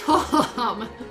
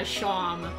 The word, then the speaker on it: Seam: The name Seam, pronounced Shom. Yeah, Shom.